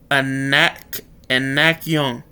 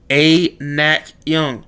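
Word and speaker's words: အနက်ရောင်: If you're specifically referring to the black color in a descriptive way, you can pronounce Anak Young, which translates to black color. I'm going to repeat this again. Anak Young.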